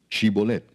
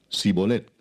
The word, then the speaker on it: shibolet: Si él respondía, "No, entonces le decían, "Ahora pues di shibolet." Y él decía sibolet porque no podía pronunciarlo correctamente.